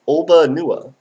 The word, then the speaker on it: Alba Nuda: It's pronounced Olba Nua.